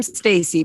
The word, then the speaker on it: Stac3y: No E or 3. Stac3y. The 3 is silent. It's Stacy, PFQRE.